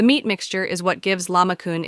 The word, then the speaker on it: lahmacun: Turkish pizza is the popular name for a dish more accurately known as lahmacun, pronounced lahmacun.